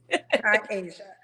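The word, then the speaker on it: K-Asia: just how it's spelled that's why my name have the dash my mama put that there so people know it's Kai and Asia Kai Asia okay do you have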